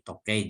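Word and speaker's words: 時計: Ini tokei jam ya. Kalau kita lihat cara bacanya, ini to di sini dari toki ya, waktu. Kei di sini hakaru. Hakaru artinya mengukur. Jadi mengukur waktu.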